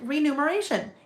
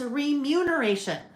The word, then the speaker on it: remuneration: I thought I always thought it was renumeration like renumeration. It's not. It's remuneration. Mu n instead of n u m.